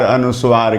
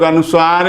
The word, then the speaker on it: अनुस्वार: को हम लोग अनुसार अनुस्वार कहते और मजे की बात तो यह और कष्ट होता है कुछ लोग अनुसार भी बोलते हैं यह नहीं करना अनुसार वास्तव में वीरवार